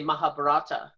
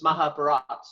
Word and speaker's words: Mahabharata: my my understanding I apparently I pronounced it wrong because I say Mahabharata so it's Mahabharata all right yeah usually